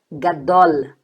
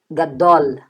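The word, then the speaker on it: גדול: Então, G com A, D com O, Gá, Dó, e aí você tem um L, Gadol, Lá, Gadol, tá, gente? Perceba esse L bem labial, L, Gá, Dol, Gadol, grande, beleza, gente?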